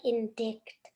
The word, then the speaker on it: indicted: send it in because it was like in dick yeah everyone scent scented it's like in dignity so the pronunciation so